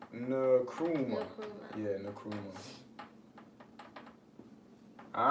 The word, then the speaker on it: Nkrumah: Nkrumah. Nkrumah. Yeah, Nkrumah. All right. So Kwame Nkrumah is the first prime minister, the first president of Ghana after their independence, right?